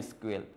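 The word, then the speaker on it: SQL: মানে এস কিউএল কে অনেক সময় মানুষ উচ্চারণ করে সিকুয়েল। ঠিক আছে? এটা প্রোগ্রামাররা অনেক সময় এটা সিকিউএল বলে থাকে। আবার এস কিউএল বললেও সমস্যা নাই।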